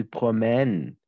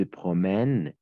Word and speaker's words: promènent: On ne prononce jamais ENT à la fin.